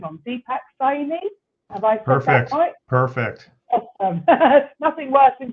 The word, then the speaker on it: Deepak Saini: today we have oh I don't want to get your name on Deepak sign in perfect perfect nothing worse than getting somebody's name wrong and Deepak is an anti-aging coach and